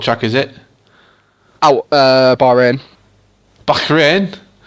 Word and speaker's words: Bahrain: Bahrain? Bahrain. That's how they pronounce it.